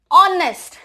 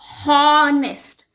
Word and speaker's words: honest: H is silent, so this word is pronounced as honest.